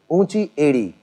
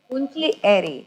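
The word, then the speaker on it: ऊँची एड़ी: Unchi edi. Unchi edi. Unchi edi, which means high, edi is the heel.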